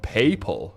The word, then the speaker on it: papal: Brad, not to be that guy, but for edification, papal is pronounced papal. Really? It's a word that refers to anything pertaining to the Pope. Papal fez. Huh. PayPal fez.